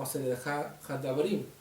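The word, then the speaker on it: עשרת הדברים: Las 10 palabras o los 10 mandamientos conocidas en el hebreo se pronuncia como Aseret Hadabrim, 10 palabras o Aseret Hadibrot.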